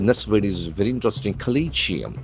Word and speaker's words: Collegium: The letter O has got a sound. Collium. Collium. As we know the letter C can have either hard C sound or soft S sound. Here it is C sound. Collium. Collegium. There are four syllables. Collegium. Colleium. The accent falls in the second syllable.